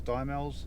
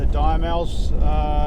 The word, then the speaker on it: Diemals: I think it's Diemals, how it's pronounced, station.